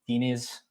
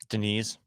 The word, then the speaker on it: Diniz: But anyway, next up, feature fight of the night, we got Derrick Lewis versus Jhonata Diniz. With a Brazilian accent, it's pronounced a lot prettier. Denise.